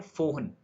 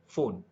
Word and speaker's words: Foehn: ठीक है, इसको प्रोनाउंस करते हैं फोहन, फोन, फोन बोल लो, फोन बोल लो, जो भी बोलना है बोल लो, बस कॉन्सेप्ट समझो।